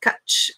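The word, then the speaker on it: cwtch: at what is it quit Cove quit must be Welsh ah uh number two pronounced cutch it's Welsh I looked it up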